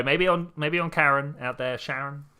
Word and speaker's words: Charon: Sharon. It's Sharon after his wife, even though it's spelt Karen after the boatman of the Styx.